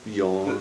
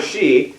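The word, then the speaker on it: 四: Well, the numbers are good examples, because the number 4 in Japanese, Yon. it can be yon or shi.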